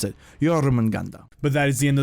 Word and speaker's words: Jormungandr: his name now that I know how to pronounce it. Jormungandr.